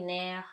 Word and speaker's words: nerf: F is silent at the end of the word because it's consonant. No surprise. So, clé, nerf, serre.